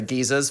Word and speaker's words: geyser: Everyone says geyser, and then British people say geezers for no fucking reason.